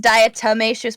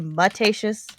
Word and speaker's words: diatomaceous: anyway it's it's fine and it's fine it's pronounced diatomaceous but i always say mutatious uh okay oh tomato tomato tomato that is